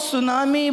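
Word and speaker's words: tsunami: जाए normal ordinary भूमिक सुनामी normal thing से मान सुनामी अत्यंत शक्ति युक्त ब समुद्र तरंग नाम सुनामी बोल देती जापानीज वाला ही देती टी स्टार्ट हो T silent सुनामी Japanese word था तो सेमाने जो थ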